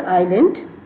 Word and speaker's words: island: called i i yes the letter s is silent here like island when we pronounce the word island we but s is